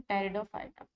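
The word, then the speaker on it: Pteridophyta: यहाँ पर P silent है, इसलिए हम इसे पढ़ते हैं टेरिडोफाइटा।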